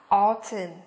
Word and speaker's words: autumn: Mùa thu của chúng ta là phát âm là autumn, đúng không? Autumn. Các em quan sát đây, các em nhìn phần âm của nó đây, sẽ không có bất cứ cái âm n nào.